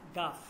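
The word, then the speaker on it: گاف: যদি এইটা একটু দেখি এইটা এইভাবে আসবে এইভাবে কাফের উপরে আরেকটা এটা হচ্ছে গা ওকে গা ঠিক আছে গাফ গাফ গাফ ঠিক আছে গাফ ওকে এরপর হচ্ছে লাম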